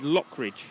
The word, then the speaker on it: Lockridge: thank you for pronunciations it is Lockridge not L ah there we go thank